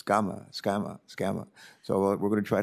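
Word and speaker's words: Sgamma: times and she can count and her name is spelled s-g-a-m-m-a i wanted to call her sagama and she says no no no it's gama skama so we're going to try to get her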